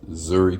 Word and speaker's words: Inzuri: Okay, I was told that even though there's an N in front, that you have to like just make the N like basically silent. So it's Zuri Catering.